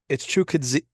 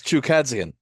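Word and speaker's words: Chukhadzhian: It's Chukadzian. With two dopes. It's Chukadzian. Yeah.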